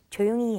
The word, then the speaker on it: 조용히: But you don't really hear the he. It's just 조용히 해요. 조용히 It's like 해요. e. 조용히 해요. But it's spelled he.